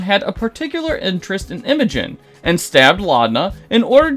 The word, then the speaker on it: Imogen: with multiple lives seemingly on the line, and Imogen, yes, I learned how to say her name correctly, doing her best Akira reenactment in the middle of Bassaris.